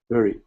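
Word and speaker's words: loerie: e it pronounced it lure like in fishing lure e lri um it's a bird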